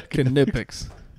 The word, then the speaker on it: Knipex: Knipex. I thought the K was silent. Knipex.